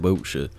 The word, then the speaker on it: Wiltshire: It makes you sound like a twat, and it's just pronounced Wiltshire.